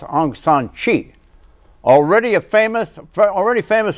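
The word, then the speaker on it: Aung San Suu Kyi: 2012 myanmar's democracy activist Onan K actually pronounced Anan Chi already a famous already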